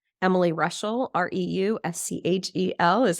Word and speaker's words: Reuschel: you can find me in my name Emily Russell r-e-u-s-c-h-e-l is how you spell that super fun name that I married into